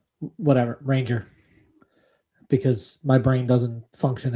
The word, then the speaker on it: Ranger: Say his name right. It's like Rahander. Whatever, Ranger.